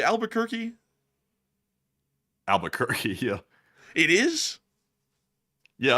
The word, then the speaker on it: Albuquerque: friendly overnight truck driver again from Houston to Albuquerque and LSA forever and take one from the chat. And thank you so much for the support from Houston to Albuquerque. Albuquerque. Albuquerque. I say Albuquerque.